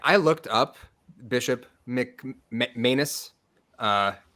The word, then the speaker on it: McManus: I looked up Bishop McManus uh I think it's pronounced like anus right um it's in